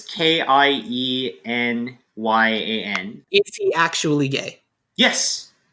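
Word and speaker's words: Keiynan: So it's Kyenyan.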